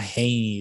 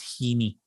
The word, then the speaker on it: Heaney: Pronunciation Heeny. Oh, so, it's not Haney, it's Heeny.